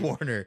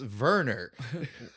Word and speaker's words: Warner: Warner. From Your the stupid beginning. name. You don't even pronounce it not right, asshole. It's Werner. Oh man, I hate. Go full German or not at all, man.